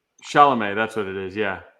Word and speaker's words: Chalamet: like Timothy Not them pop Chalet or like, yeah, oh, whatever. Harry Styles, like he's Isn't that not how you say his name? Timothy Chalet? Timothy Chalamet.